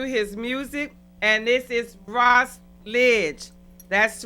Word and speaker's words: Ras Lidg: So with that being said, Ross Lidg. Am I saying it right? Yeah, you saying it right. You got it. Okay. Like college.